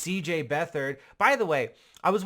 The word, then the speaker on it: Beathard: You pronounce the TH in the middle of his name as you would pronounce a TH in almost any word in the English language.